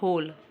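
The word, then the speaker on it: whole: इसमें W silent होता है, ठीक है, तो हम इसको पढ़ते हैं होल, ओके।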